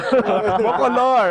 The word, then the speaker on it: McColor: Ito naman, may accent on the last syllable. McColor, alright.